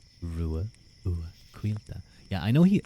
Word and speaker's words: Ruadh: pronunciation of of course my name is pronounced ruila ruila yeah I know he